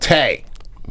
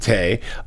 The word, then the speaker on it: Tay: to put out this chat bot yeah called tag but why you gotta say it like that why you gotta say it like that hey wow okay so they have a chat bot named Tay uh yeah this is like it it's a